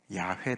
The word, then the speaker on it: 야훼: 성사 학자들이 연구를 해봤더니 여호와 라는 발음은 아니고 아 야외 가 맞다 야 예 그래서 야외가 정설로 붙이면 받아들여지고 있습니다 그래서 이스라엘 백성들을 애굽에서 구원해 내신 하나님의 이름은 야훼 다 yahweh 다라고 아시면